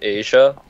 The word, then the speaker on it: Aziya: It's pronounced Asia. Asia? It's like you're Asian.